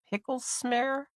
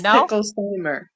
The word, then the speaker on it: Picklesimer: up your last name is it pickles smar pickles smar no no it's picklesimer pickle Simer okay pickle Simer I am